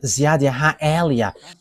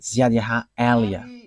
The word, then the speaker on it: Ziad Eliah: that is my name, so I pronounce it as my father pronounced it, Ziad Eliah.